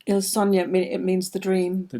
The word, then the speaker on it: Il Sogno: How do you pronounce that? Il Sogno? Il Sogno, it means the dream.